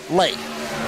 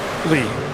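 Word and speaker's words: Ley: Lei. Lee. L E Y. Lee rhymes with key.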